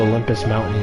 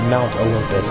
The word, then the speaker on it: Mount Olympus: Like we'd get to go to Olympus Mountain and stuff like that. Sorry, Mount Olympus is how it's pronounced, is how it's supposed to be said.